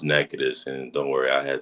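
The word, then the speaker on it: Natchitoches: How do I say this? Natachis. Um, it's pronounced Nacades.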